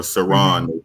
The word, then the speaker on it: Saran: Nashira Saran said, "We need justice," or Saran is how that's pronounced.